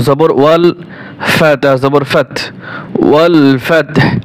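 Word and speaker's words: وَالْفَتْحُ: ওয়াও লাম জবর ওয়াল, ফাতা জবর ফাত, ওয়াল ফাতহ হা পেশ হু, ওয়াল ফাতহু, ওয়াল ফাতহু। যখন ওয়াকফ করব তখন হু হবে না, ওয়াল ফাতহ শুধু হা উচ্চারণ করব।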